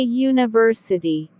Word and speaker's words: university: spelling for example a university university begins with the letter u which is a vowel however it sounds like you with a y therefore you use a